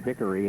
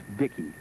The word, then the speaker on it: Vicky: He made me correct that name. I call him Victory and he says, "No, it's Vicky."